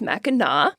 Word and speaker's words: Mackinac: So first, Mackinac Island is Mackinac. even though it's spelled Mackinac, and you leave to go to Mackinac Island from Mackinac City, which is spelled exactly how it sounds.